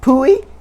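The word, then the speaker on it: Pui: were so cool especially poohi it says p-u-i i think i'm pretty that's how i pronounced it on my reader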